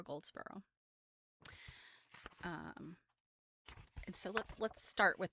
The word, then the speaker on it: Goldsborough: Her middle name, Faulds, and then her last name is spelled Goldsborough. So Jennifer Goldsboro.